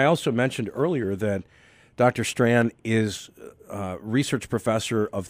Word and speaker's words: Strachan: guest is dr owen strand i want to spell his last name and i hope i get this right s-t-r-a-c-h-a-n so it's kind of like you drop the c-h when you pronounce it dr owen strand s-t-r-a-c-h-a-n